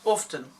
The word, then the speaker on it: often: No T. Don't pronounce T. That's a big thing. You say often, you don't say often.